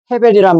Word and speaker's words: 아벨: 아벨의 원래 발음은 헤벨이에요, 헤벨. 헤벨이란 말은 무슨 뜻이냐면 홍허, 텅 빈, 허무 이런 뜻이에요.